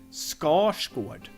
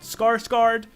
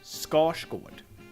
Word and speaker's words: Skarsgård: this and it's pronounced score scored not skarsgård scores good R and s create a retroflex sound which sounds like then